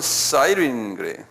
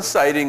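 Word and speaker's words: Cyrene: 당시 구약이나 신약 때는이 나라를 뭐라 했었냐면 영어로는 사이윈 영어로는 사이인 그러는데 이게 그대로 부르면 뭐냐면 구레네. 구레네. 여기 제 써 놨죠.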